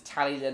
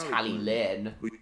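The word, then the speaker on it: Talyllyn: person in Wales exactly for some reason unlucky type pronounces tally then as tally Clinton but I don't understand why I know for a fact it's pronounced tally Lynn too long that he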